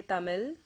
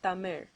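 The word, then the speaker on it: தமிழ்: So they instead say Tamil or Palam or Valai, it's okay, you can live with that, but the correct way of pronouncing it is Tamil.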